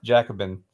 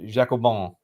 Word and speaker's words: Jacobin: go uh so yeah so Wikipedia says it's pronounced Jacobin and the French pronunciation is Jacob Bon oh man we're gonna have to work on